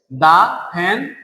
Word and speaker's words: the: ক্ষেত্রে আমাদেরকে বলতে হবে দা ফ্যান দা বুক এখানে যদি আমরা দি বলি তাহলে এটা শুদ্ধ বা সঠিক হবে না অপর পাশে দিপল বলতে